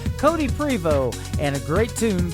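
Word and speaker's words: Prevost: Cody Freebo Cody is Co di e Prevot as PR e vo st that's right the T is silent Cody Freebo and a great tune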